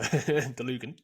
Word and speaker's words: Dlugan: No, I think that's correct. I would pronounce it exactly the same. So Dlugan.